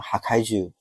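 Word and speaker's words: はかいじゅう: 这里破坏树和漫画名字破坏兽的读音一样，都念哈开句。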